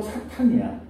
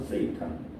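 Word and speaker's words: Satan: 사탄은 그냥 히브리식으로 사탄이야. 사탄이라는 말이 히브리어에 있어. 그거를 영어에서 음차해온 거예요. 그래서 세이탄. 사탄이라고 음차를 해가지고 그걸 영어식으로는 세이탄 뭐 이렇게 부르긴 하. 그러나 사탄이 올바른 발음이고 히브리어예요.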